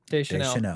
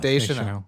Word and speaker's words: Deschanel: Deschanel. Deschanel. See, yeah. I always want to make sure I'm pronouncing it right.